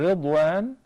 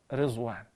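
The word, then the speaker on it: رضوان: And Ridwan is the name of the God of Al-Jannah. And it is best to pronounce it as Ridwan, not Rizwan.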